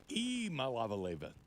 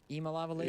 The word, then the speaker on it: Iamaleava: Iamaleava. Iamaleava? Yeah, I pronounced it incorrectly this whole time. You start with E.